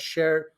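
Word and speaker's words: Cher: share yes it is yeah so it's called share and uh i named it uh not because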